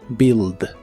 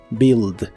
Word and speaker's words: build: de inglés es build no se pronuncia la u de esta palabra solo build build en el presente la